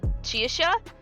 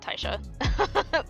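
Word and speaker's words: Caixai: it's it's pronounced uh chi-sha but it's easier just to pronounce it taisha for for english speakers oh you beat me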